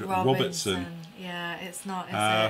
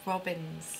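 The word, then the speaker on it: Robyns: I was young in called Robertson for some strange reason like you did that yesterday yeah I did it's Robyn's yes sorry there's a habit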